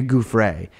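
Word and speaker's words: Giuffre: he's trying to discredit virginia jeffrey who we pronounce her name virginia goof ray and basically he didn't even mention himself uh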